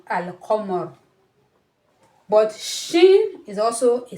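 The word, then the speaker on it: القمر: Unlike the moon letters, when you have al-qamar, qa is a moon letter. So when it's preceded with alif lam, you still need to pronounce the alif lam. It can be al-qamar.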